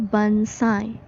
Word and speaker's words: bonsai: menggunakan phonetic symbol ya guys bonsai bacanya bansai nah ini termasuk nama